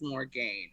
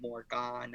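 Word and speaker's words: Morgane: game okay so yeah it is more gain i just thought that it was gonna be more gone uh with an a at the end well i think i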